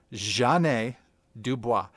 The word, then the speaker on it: Jeanne Dubois: But her name is pronounced Jeanne Dubois. And the ja is pronounced like Zsa Zsa Gabor. She made that very clear. It's not Jeanne. So not Jeanne. It's not Jeanne. And it's not Janet. It's not Janet. It's Jeanne Dubois.